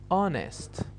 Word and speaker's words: honest: we have the h we say that the h is silent and the words below